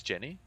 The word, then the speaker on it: Jhin: Pronunciation is correct. It is Jenny.